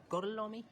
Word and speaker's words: Gorlami: Gorlomi? Lo pronuncio correctamente?